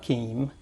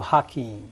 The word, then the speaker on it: Hakeem: you changed it to hakeim yes what happened uh I didn't really change it the the cor correct pronunciation okay that was the correct pronunciation is with h okay okay and then